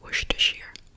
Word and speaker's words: Worcestershire: a barbecue tonight is anyone out there have trouble pronouncing this word i mean if i'd never heard of it before and i tried to read it it would be a nightmare book i know that it's worcestershire even though it's were jester